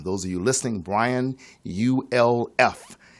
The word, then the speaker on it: Ulf: of you listening Brian you LF it is pronounced like golf without the G and he is the